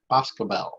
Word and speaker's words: Boscobel: Boscobel, I believe is how it's pronounced, but I could be wrong.